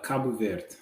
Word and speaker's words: Cabo Verde: it I know people so in Portuguese you said kab ver okay but with the